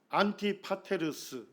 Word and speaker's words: 안티파테르: 살펴야 합니다 헤롯대왕의 아버지가 안티파터에 이걸 조금 헬라어로 발음하게 되면 안티파테르 뭐 파테로스 이렇게 부릅니다에 그래서 헤롯대왕의 아버지이고 원래는이